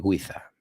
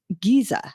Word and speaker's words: Giza: La Gran Pirámide de Giza. De Giza. Pensaba yo, digo, Dani Guiza es futbolista. Tiene una pirámide. Sí, ok. Pues mira, yo aprendo cosas también. The Great Pyramid of Giza. Yeah, Giza.